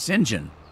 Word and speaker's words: St John: someplace because in Europe uh St John is pronounced singen so singen and it's and it's uh it